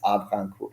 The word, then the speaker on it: Havrincourt: And I practice a lot to how to pronounce that, and it's Avrancourt. And I guess it's spelled Havrincourt, basically.